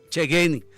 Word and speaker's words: Chegeni: Venezuela, el señor Alí Chequeni. Creo que lo pronuncié bien, ¿no? O Chegeni. Chegeni.